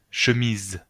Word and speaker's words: chemise: Porque está entre dos vocales, I y E. ¿Ok? I, E, dos vocales. La S se pronuncia Z, porque está sola. Si fuera doble S, se pronunciaría S, pero aquí está sola.